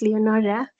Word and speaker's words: Leonora: good evening good evening how I have I pronounced your names right yes it's Leonora um so I've been